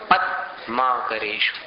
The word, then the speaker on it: पद्माकरेषु: इसको भूल करके भी पद्माकरेषु मत बोलना, पद्माकरेषु। पद द आधा है, उच्चारण में ध्यान देना।